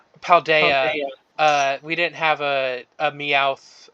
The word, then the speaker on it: Paldea: Fuck, I keep saying it wrong. Paldea.